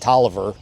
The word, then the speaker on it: Taliaferro: All right, so the Taliaferros, pronounced Tolliver. Big family, big first family here in Virginia.